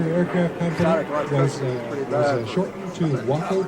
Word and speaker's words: WACO: The Weaver Aircraft Company was shortened to WACO, W-A-C-O, so we pronounce it like Waco rather than the city of Texas, Waco.